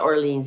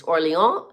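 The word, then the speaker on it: Orléans: If you email me, and if I come to Orleans, no, it's not Orleans, it's Orleans.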